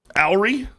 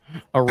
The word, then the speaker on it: awry: Owry? Awry. How do you pronounce it again? Awry.